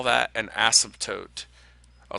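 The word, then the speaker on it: asymptote: it or cross it we call that an ASM toote I'll spell that so uh ASM toote A s y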